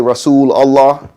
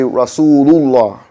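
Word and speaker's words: رسول الله: Sometimes we say Rasul Allah. We're supposed to say Rasulullah.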